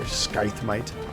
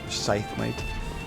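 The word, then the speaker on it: Scythe Mite: get out of here skythmite scythemate that's another one we're talking about english and how things are pronounced it looks like it'd be pronounced sky but it's scythe oh we can't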